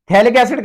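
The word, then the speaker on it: phthalic acid: पीएच इसमें silent होगा, थैलिक एसिड कहेंगे इसे, पीएच साइलेंट हो जाएगा।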